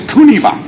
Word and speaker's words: Kuniba: Kokuba Kosei, you might not recognize the name because I use the Okinawan pronunciation, but in English it's Kuniba.